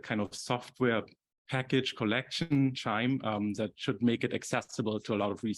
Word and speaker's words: Qiime: And what we'll be using is Qiime, pronounced like wind chime, was created around the